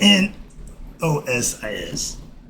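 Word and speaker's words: gnosis: I love my dude is it's spelled G N O S I S is pronounced nosis G like the K and the D is salad.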